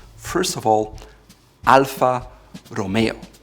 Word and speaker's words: Alfa Romeo: First of all, Alfa Romeo. It's Alfa Romeo. Again, it's an Italian name, so use the R in the front, and it's not Alfa Romeo, it's Alfa Romeo.